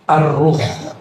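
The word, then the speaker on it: الروح: ke istilah kedua yaitu arruh bukan roh ya arruh kalau roh apalagi tuh ya bacanya ar ar pakai alif lam ini teksnya menyebut alif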